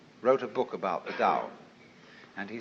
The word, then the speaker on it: Tao: paul the dao tao pronounced dao in the mandarin dialect tao in the shanghai dialect toe in the cantonese dialect take your choice dao